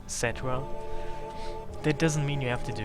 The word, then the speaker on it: Cetra: Well, only because they say it's supposed to be pronounced Cetra.